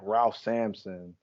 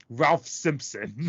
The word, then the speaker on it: Ralph Simpson: No, it's I thought it was Ralph Sampson too when I was looking at this list. It's Ralph Simpson.